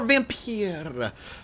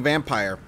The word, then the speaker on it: Vampyr: back to some more vim Pieta if that's how you say it people said I was sake saying it wrong by saying vampire we just got out